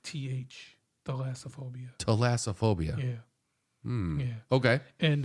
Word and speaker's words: thalassophobia: the cuz the fear of the ocean is theophobia I think that's how you say it but wait wait say that again alophia theophobia like th thalassophobia thaasophobia yeah yeah okay and uh so usually